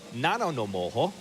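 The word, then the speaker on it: Nanaimo: Number 9, the townspeople of Nanonomoho, that's how you pronounce it, BC race their bathtubs as part of an annual aquatic tradition.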